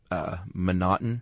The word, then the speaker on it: M'Naughton: I think M'Naughton. M'Naughton. It's M''Naughton, and it looks like it should be McNaughton, but they left the C out and replaced it with an apostrophe.